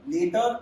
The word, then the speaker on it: later: So the pronunciation, you must understand the difference in pronunciation. This is later, this is latter, later, latter.